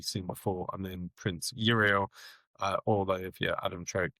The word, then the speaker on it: Uriel: if you're Adam Troke, you're calling him Iriel, which I assume is the correct pronunciation because people at Games Workshop would know that. However, he's Uriel in my book, and that is where we're going to lie forevermore.